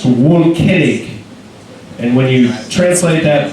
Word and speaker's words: Volkening: Let's hear it for Volkening! This microphone smells like sarcasm. So again, my name is Volkening, which is a German name, and when you actually say it German-like, it's pronounced Volkening.